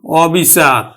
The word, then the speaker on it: অবিচার: অর্থ প্রকাশ করতেছে অবিচার তাহলে এই ক্ষেত্রে কিন্তু আমার সংবৃত উচ্চারণ না হয়ে কিন্তু বিবৃত উচ্চারণ হবে অবিচার অবিচারেই উচ্চারিত হবে অবিচার অবিচার আবার অনিয়ম